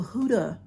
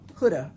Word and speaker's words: Huda: There was also Huda. Huda. Huda is the right way to say it. I've listened to her say it. She says huda.